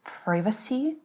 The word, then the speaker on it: privacy: Is it privacy? Privacy? Again, both. Privacy and privacy.